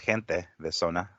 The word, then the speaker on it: Gente de Zona: Well, for starters, that is pronounced gente de zona. Gente, like a J. I mean, like a J. Well, in Spanish is J, but it's like a H for us.